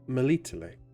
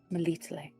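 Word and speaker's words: Melitele: Malito. Malito.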